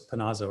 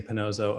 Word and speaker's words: Pinazzo: all along so it's pinazzo right i've been saying pinozzo i'm so